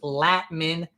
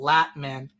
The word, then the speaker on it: Latman: so name and pronunciation is latman by the way lat as in bat Latin all right so Batman with an L latman latman all right thank you